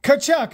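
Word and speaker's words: Tkachuk: kachuck CH kachuck yes the tea is silent kachuck huh Brady kachuck and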